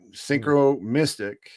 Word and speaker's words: synchromystic: Well, I prefer like I the accent is on the mystic, right? Synchro mystic, right? That's the kind of like the annunciation.